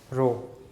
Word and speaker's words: rho: This is रो, RHO। इसका pronunciation होता है रो।